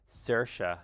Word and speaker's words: Saoirse: So it's Saoirse, or Saoirse in the American pronunciation.